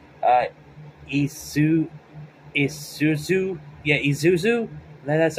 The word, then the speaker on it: Isuzu: where it show what's her name uh ISU Isuzu yeah Isuzu that's how you say her name